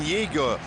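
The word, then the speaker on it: Jäger: The chances falling to Jonathan Yeger, born and bred in France, German name, and now preferring the German pronunciation.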